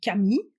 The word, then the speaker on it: 神: Il est composé de deux kanji, les idéogrammes d'origine chinoise, Shin, divinité, qui se prononce aussi kami quand il est seul, et To, chemin, voie, V-O-I-E, qui se prononce Michi quand il est seul.